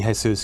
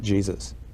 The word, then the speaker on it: Jesus: He's always, everyone, although it should be Jesus, because that was in recognition of the Mexican half of his family, everyone always pronounced it Jesus.